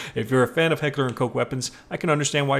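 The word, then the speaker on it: Heckler & Koch: you're a fan of Heckler and kooch and yes I say kooch because that is the English pronunciation so I don't want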